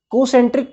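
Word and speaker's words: concentric: कोसेंट्रिक पढ़ते हैं, एन इसमें साइलेंट होता है।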